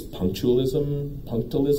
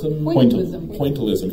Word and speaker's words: pointillism: It's punctualism? Pointillism.